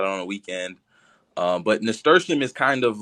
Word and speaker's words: nasturtium: Him to come up because nasturtium.